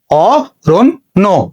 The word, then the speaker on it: অরণ্য: তাহলে আমরা এখানে দুইটা ন লিখেছি। এবার খেয়াল করো, এটা একটা যুক্ত বর্ণ, এটা একটা যুক্ত বর্ণ, আমরা শেষ বর্ণের সঙ্গে ওকার যুক্ত করে দিব। তাহলে উচ্চারণ হচ্ছে অরণ্য।